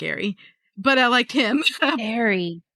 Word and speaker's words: Ari: Ary I kept saying Arya, but yeah, Ary. I don't know cuz I I I didn't listen to it, but it's Ae R I is how it's spelled.